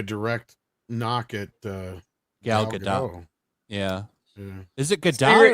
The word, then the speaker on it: Gadot: And she says it's Gadot. Well, I say it wrong then.